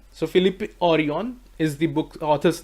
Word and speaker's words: Jorion: Remember one thing, this is not Jorion, J is silent here. So Philip Orion is the book author's name.